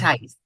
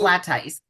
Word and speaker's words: Blatteis: How do It's you pronounce? Blatteis. What is it? Blatteis.